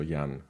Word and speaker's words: Jan: it yeah yeah uh it's same as in Polish it's also young and we pronounce the J sound in the same way uh Germans and poles great so what's your experience with Danish Yan the Germanic language